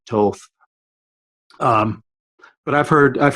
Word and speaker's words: Thoth: I you know I there's different ways of pronouncing it you know I default III default to Thoth but it but yes it's probably supposed to be the Toth um but I've heard